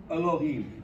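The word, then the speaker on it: אֱלֹהִים: But the word for God is Elohim, and it is Elohim. It's a hatef vowel. That vowel is reduced.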